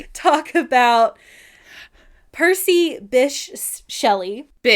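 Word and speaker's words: Bysshe: So, I was like, how on earth do I pronounce this? And none of my guesses were correct. So, it's it's Bish.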